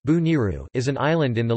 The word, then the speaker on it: Boneiru: Bonaire, pronounced or Dutch Bonaire, pronounced Bo-N-R, Papiamento, Boniru, pronounced Bu-Niru, is an island in the leeward Antilles in the Caribbean Sea.